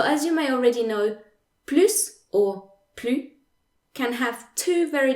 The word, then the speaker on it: plus: s is silent and plu translates to either anymore not anymore or no more okay there's another case where the s in plu is silent and that is the